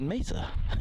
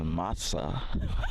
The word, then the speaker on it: Masa: I'm laughing about the name Masa because it's spelled M-A-S-A. Okay, so most people pronounce that Mesa, as I did, as I said before.